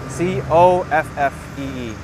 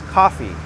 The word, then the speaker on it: coffee: Just like New Yorkers, we pronounce coffee incorrectly. It's not C-A-W-F-E-E. It's C-O-F-E-E, C-O-F-F-E-E. It's coffee, not coffee.